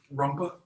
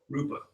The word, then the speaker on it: Rupa: But that is, am I pronouncing the word right? Rumpa? Or the? You mean Rumpelstiltskin? No, I'm not pronouncing the word. Instead of using the word form, Rupa.